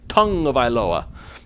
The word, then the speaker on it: Tagovailoa: You're wrong. It's tongue of Iloa. Get used to the Hawaiian pronunciation.